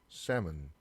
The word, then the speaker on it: salmon: 그 다음에 연어란 단어인데 이거 대부분 L 발음이 있더라고요. 잘못된 발음이에요. 자, 발음 결 보면 자, salmon. 자, 요 중간에 L 발음이 사라져 있죠. 요 L이 묵음이란 얘기예요.